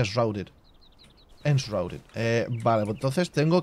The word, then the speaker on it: Enshrouded: No lo pronuncio, o sea, tengo acento, pero se pronuncia Enshrouded.